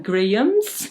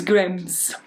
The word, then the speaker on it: Grambs: Okay, so it's not like Grahams, it's Grams.